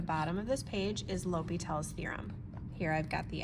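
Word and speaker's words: L'Hôpital: of this page is lel's theorem here I've got the S to indicate that sometimes you'll see the s in there it is not pronounced Hospital though all right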